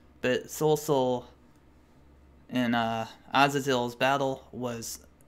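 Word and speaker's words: Cao Cao: pronounce his name correctly it's not Cal Cal it's Seoul so I don't I guess I was reading it wrong but Sol Sol and Aziz hills battle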